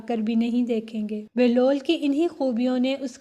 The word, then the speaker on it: بہلول: سے واقف ہوں گے۔ بہلول کی بے پرپیش اور ہے پر جزم ہے، جس کی وجہ سے اس کا اصل تلفظ بہلول ہے، جس کے معنی ہنسمکھ،